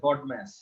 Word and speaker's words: BODMAS: এরকম এরকম শব্দ আছে, যদিও বাংলায় উচ্চারণ যদি করতে চাও তাহলে বদমাইশ হয়ে যাবে, বাট ইংলিশে মনে হচ্ছে বডম্যাস।